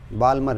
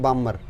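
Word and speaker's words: Balmer: L का मतलब Lyman, ये होती है बामर, इसके अंदर L साइलेंट रखियो, बामर बोला कर रहे हैं, बालमर नहीं बामर।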